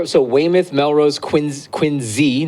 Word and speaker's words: Quincy: Cuz I grew up So, Wayimoth, Melrose, Quinn, Quinzy, not Quincy. It's pronounced with a Z cuz all the names in Massachusetts are messed up.